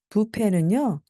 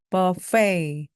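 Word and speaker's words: buffet: 부탁드립니다 오케이 렛츠 go 제일 먼저 부페는 버페이입니다 불어에서 왔어요 그래서 발음이 조금 이상한데요네 오늘은 부페 가자라고 할 때 그 부페가 버페이 페입 점심은 부페에서 먹는게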